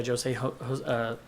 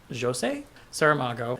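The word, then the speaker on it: José Saramago: after reading blindness by jo se-ho I have recently learned that I was pronouncing his name wrong and I believe it's Jo say Sara Mago and also the road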